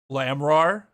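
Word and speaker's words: Lamiroir: Lamrar is how it's pronounced.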